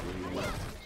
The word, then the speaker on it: Ryu: It's pronounced Ryu.